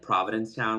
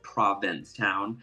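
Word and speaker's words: Provincetown: Um, and I remember like when I was younger, I'd always call it like Providence Town. When I was little, I couldn't pronounce it because But it's Province Town.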